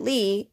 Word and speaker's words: Lie: Now, although you pronounce it Lee, it is also spelled like the American word lie.